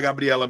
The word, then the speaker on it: Gabriela: Se eu pegar a palavra Gabriela, qual é a sílaba que eu falo mais forte? É Gabriela. É Gabriela. Ou é Gabriela? Quando eu falo Gabriela, é o E.